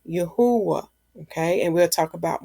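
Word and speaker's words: Yahweh: know the Hebrew e I know how to pronounce this word I know not to say Jehovah I would say yahwah okay and we'll talk about more of that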